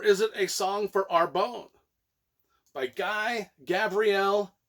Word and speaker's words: Arbonne: the early 90s and i was like pronouncing it the song for arbonne the entire 30 some odd years that i've owned the book a song for arbonne a and then i just